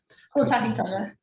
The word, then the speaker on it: Kotahitanga: Well, on the face of it, the Puketapu and Te Kohati, I can never pronounce it properly. Sorry. Kotahitanga. You've got it.